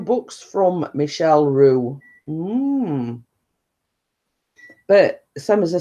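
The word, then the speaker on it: Michel Roux: So yeah, and then obviously I made it's pronounced Michelle Michelle Roux.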